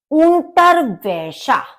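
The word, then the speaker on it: Unterwäsche: हैं तो जकन सॉक्स ंटर वशा टर वैशा क्योंकि ए के ऊपर उम लाउट है उम लाउट है तो ये आ नहीं होगा आ के बदले इसको अ की तरह से बोलते हैं तो ंटर वैशा आई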